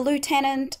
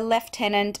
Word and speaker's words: lieutenant: and some say the lieutenant others say the left Tennant I don't personally mind both pronunciations are an acceptable part of Australian English in Britain they tend to say leftenant in America they sent